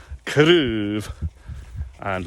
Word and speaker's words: craobhan: And it's a good example too, those two words you can hear with a single syllable sound. It's quite long. Craobh. Craobh. And with a two syllable plural, craobhan is a little bit shorter. So that's the effect that stress has on certain sounds in Gaelic.